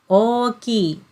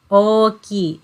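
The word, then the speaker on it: 大きい: Oki. Oki. So you can see this kanji character is pronounced as o, and ki. Oki.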